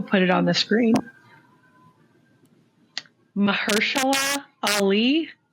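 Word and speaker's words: Mahershala: Mahersula Ali.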